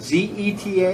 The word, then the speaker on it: zeta: All right, so the first one is a zeta. It's pronounced like a Z, just like the English Z.